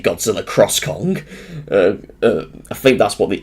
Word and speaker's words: Godzilla x Kong: um I think that's I've heard that the x is silent in the title uh but according to the games director but wait games direct I mean films director not games director God I'm getting confused now from the director um the ex is silent apparently but um I I